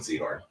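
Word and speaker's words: Sehorn: Yeah, it's Jason Seahhorn.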